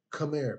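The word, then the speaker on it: Khmer: The people that built it, they are called the Camar people. Okay. Camar. So they they spell it K h empire.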